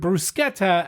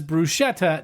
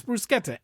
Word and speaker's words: bruschetta: to confuse you, the combination of CH is pronounced as a hard C sound like in cook or clean.